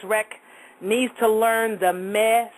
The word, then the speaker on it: meh: The other sound that I'm going to give you is M-E-H, and it's pronounced meh, meh, M-E-H, kind of like eh with meh with an M in front, meh.